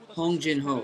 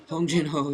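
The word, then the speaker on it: Hong Jin-ho: stats on the side Hong Jin ho sorry I completely mispronounced the other's name and I'm going to rot in hell for it but um Hong jino is his name and uh yeah this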